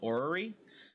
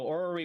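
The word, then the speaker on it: Aurory: looking at back a couple months ago called orrery um if you're familiar with or spell that a-u r-o-r-y um or were we okay yeah and so orally was supposed to be like a top-down uh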